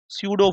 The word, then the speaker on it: pseudo: स्यूडो की spelling होती है PSEUDO, स्यूडो फोर्स।